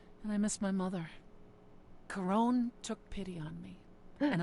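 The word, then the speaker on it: Charon: all and after that I've been pronouncing his name wrong during all Spirit fair enough to get out of that I've been saying Sharon ladies chased after me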